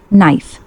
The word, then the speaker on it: knife: Knife, silent K, pronounced knife.